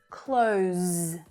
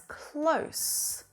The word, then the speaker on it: close: the consonant sound close close that z voiced consonant sound you know this is